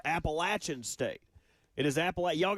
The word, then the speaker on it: Appalachian: It is Appalachin State.